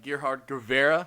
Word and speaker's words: Gerhard Guevarra: but yeah, we have Gerhard Guevarra. How's my How to do?